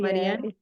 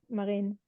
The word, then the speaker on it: Marine: I think Marina is how you say your name, Mama? Yeah, Marianne? it's Marine. Marin.